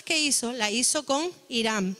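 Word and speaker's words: Hiram: hizo la hizo con irán no es irán de lo que conocemos hoy por irán irán era un rey que se escribe con h y con m vale hizo la alianza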